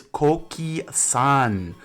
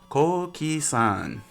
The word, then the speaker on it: Coqui-san: It is Coqui-san. Coqui-san. Coqui, our nation's frog.